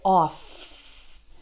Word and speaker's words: off: And then in the word off, the FF is pronounced like F. Just right, off.